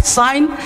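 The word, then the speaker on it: sign: जैसे जी साइलेंट है तो अब देखो, अब यहाँ पे नेट, साइन, रिजाइन, rain, डिजाइन, अब इसको जी नेट नहीं पढ़ेंगे, रिजाइन नहीं, साइन, अब यहाँ पे साइन जी नहीं बोलेंगे, अब यहाँ पे रिजाइन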